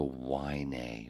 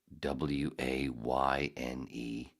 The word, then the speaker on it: Wayne: Fucking doctor's office calls me today asking, can I speak to Wynay? You fucking serious, dude? Is staffing that bad? You can't even pronounce my Wayne. You pronounce it Wynay?